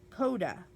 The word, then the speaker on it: coda: Coda. It's a noun. K-O-D-U-H is the pronunciation.